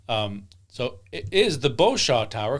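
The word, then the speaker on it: Beauchamp: so it is the bosaw tower cuz the p is silent all right why do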